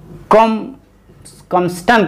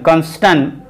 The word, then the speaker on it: combustion: की जा रही है, दहन जिसको कंबस्टन कहते हैं, COMBUSTION, कंबस्टन, इसमें बी साइलेंट भी कई लोग कर लेते हैं, कई लोग साइलेंट नहीं करते हैं, जिसको प्रज्वलन कह लीजिए,